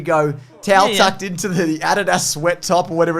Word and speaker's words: Adidas: In Australia, we say Adidas. We do. Because it's the correct way to say it.